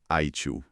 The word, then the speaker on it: ITIL: E o nosso estudo de caso é um nome que todo profissional de tecnologia conhece bem: ITIL, pronunciado ITIL.